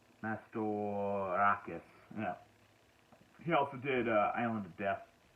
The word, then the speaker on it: Mastorakis: Nico Mastercart. Mastorakis.